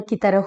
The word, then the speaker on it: कृति: अक्सर लोग धोखा खा जाते हैं क्योंकि री चूंकि उच्चारण में र की तरह होता है तो हम इसे भी र मान लेते हैं, लेकिन इसका उत्तर यह होगा कृति। कृति में र का उपयोग नहीं किया गया है।